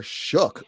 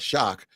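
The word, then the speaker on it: Shough: It was funny watching that game because Tyler Shook, not Shock, I guess.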